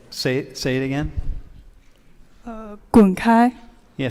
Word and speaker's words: 滚开: Well, to be gentle, you can just say 滚开, or Wait, how do you say it? 滚开.